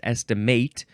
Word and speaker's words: estimate: It's estimate, and yes, this one is pronounced estimate with a long A because it's the first form, which is a verb, and I think it's just transitive from circa 1532.